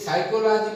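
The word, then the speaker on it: psychology: ये साइकोलॉजी पाण पढ़ंदा आहियूं साइकोलॉजी असल में लिखबो ही आहे p सां शुरूआत थींदी आहे p खां पोइ s अचण सां p जेको आहे ख़ामोश थी वेंदो आहे उते पाण पढ़ंदा साइकोलॉजी।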